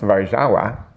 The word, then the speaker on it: Warszawa: the word garbage and the city Warsaw, which in Polish is pronounced Warszawa, which I thought was pretty cool.